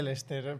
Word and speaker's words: Leicester: Sí, se dice Lester, pero Leicester. se escribe raro.